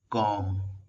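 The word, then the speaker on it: comb: छलनी, calendar, calendar, कंघी, कॉम, कॉम, यहाँ पे बी साइलेंट है, कॉम्बिनेशन लॉक, कॉम्बिनेशन लॉक,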